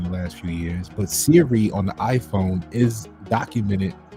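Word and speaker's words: Seere: e e r e it's pronounced Siri right all they did was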